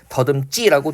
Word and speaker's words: 더듬지: 그 다음에 더듬다 같은 경우도요. 어간 받침소리가 미음인데 지금 뭐가 왔어요? 지가 왔더니만 어떻게 돼요? 더듬지라고 된소리로 발음되고 있습니다.